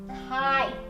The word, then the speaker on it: kite: Well, this, boys and girls, was a first aid kit, but then we added magic E, and it makes the I say its name. So now it is pronounced kite.